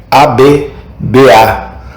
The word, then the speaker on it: Abba: Devo tentar pronunciá-lo para que você veja a infantilidade natural dele. A-B-B-A.